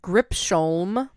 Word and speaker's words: Gripsholm: The Lion of Gripsholm. So spelled like grip, Sholm.